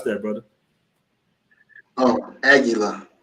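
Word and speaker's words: Águila: aguila the bear you just drunk how you pronounce that brother oh aguila aguila okay i see a lot of people that's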